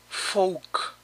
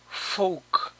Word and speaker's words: folk: Folk. Folk. Aquí tampoco se pronuncia la L.